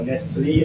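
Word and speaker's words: Nestlé: On the practical experience side, I have worked in corporate, mainly manufacturing stroke distribution, with Nestle, or Nestle as some person might pronounce it, has been a company which I spend most of my working life with.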